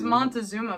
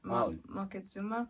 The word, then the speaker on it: Moctezuma: Like, I thought it was Montezuma, but it's not. Moctezuma?